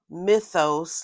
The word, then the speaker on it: Mythos: It's pronounced mythos like mythology.